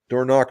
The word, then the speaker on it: Dornoch: Dornoch Firth.